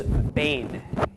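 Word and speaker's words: בין: Okay, next is bain. Beit Yud Nun. This is not to be confused with Bain Beit Nun, okay, which means son. Okay, so this is a homonym, but it is spelled differently.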